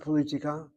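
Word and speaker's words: פוליטיקה: Look where the accent is on that word. Not politica. Pol on the second syllable. Politica.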